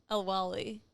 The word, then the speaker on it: El-Waylly: El-Waylly.